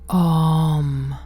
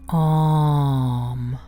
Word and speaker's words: Om: Strictly speaking, this mantra consists of 3 letters, from A, U, and M, and over these letters toned then results for our ear an OM.